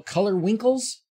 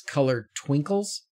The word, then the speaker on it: Color Twinkle: And then somebody pointed out to me that it's not color winkles, it's color twinkles, but I didn't see the T.